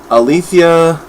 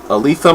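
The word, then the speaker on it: Alitha: opinion althia uh Martinez Altha Martinez I hope I pronounced that name properly um the first name anyway a l i t h a Al Letha sounds like I got a lisp um yeah this is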